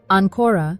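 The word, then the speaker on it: ancora: stress the second syllable Anora means again if you stress the first syllable Anora means anchor let's try this together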